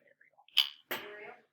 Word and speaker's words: Ariel: yeah not Ariel so both Ariels pronounce their name arel yeah so not the Sebastian Way from Little but everybody yeah sorry